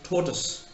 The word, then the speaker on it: tortoise: this word t-o-r-t-o-i-s-e how does an Indian pronounce it and India would pronounce it like tortoise because you'd go by the spelling t o r Tor t-o-i toy you see toys now if you pronounce it tortoise the person whose mother tongue it is will not be able to understand what we are talking of because what he pronounced is taught us somebody taught us no so there's a